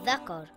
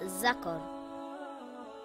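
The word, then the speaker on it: ذكر: For example, Tha in the word Thakar and not Zakar.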